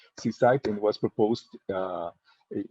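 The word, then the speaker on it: CSIDH: it that way so this is this is pronounced seaside and was proposed uh it was published in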